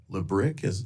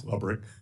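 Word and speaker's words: Lebryk: And I believe you were approached by the highest-ranking career official at Treasury, David Lebrick. Am I pronouncing his name correctly? I believe it's Lubrick.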